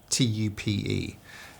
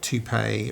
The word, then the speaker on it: TUPE: employment closed brackets regulations abbreviated commonly as ti tu p um not toupe or any of the other weird pronunciations you get from time to time.